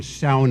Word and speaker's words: sauna: the Stone Age and you'll notice I use the Finnish pronunciation SAA it's what I grew up with in